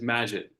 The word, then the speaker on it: Majid: Majed. I'm sorry, Dr. if I pronounced your name correctly, or is it Majed? It's Majid. Majid, Dr.